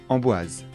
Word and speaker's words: Amboise: château de blois chenonceau le château de chenonceau amboise le château d'amboise le soir dans certains châteaux